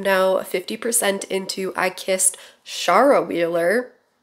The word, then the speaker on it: Shara: 50% into I Kissed Shara Wheeler. I've been saying Sarah. I assumed that it was just like a funky spelling for Sarah. No, it's Shara.